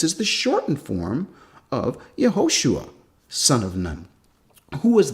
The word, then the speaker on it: Yehoshua: They'd say, yeah, that's his original name, and it would be pronounced Yehoshua. The shortened form of his name is Yeshua, not Yahshua.